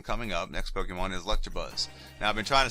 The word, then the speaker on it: Electabuzz: have early with Electabuzz Electabuzz not electrobuzz I keep saying that even though as a kid I've always said that but it was not the correct pronunciation for this Pokemon so let me just